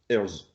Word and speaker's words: Herzl: Nous, on prononce Herzl, comme ça.